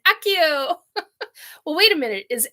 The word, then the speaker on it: Accio: of things um yeah isn't that accio I think that's how that's pronounced uh Donna just said I'm always doing a Harry Potter with Harry Potter saying Akio well wait a minute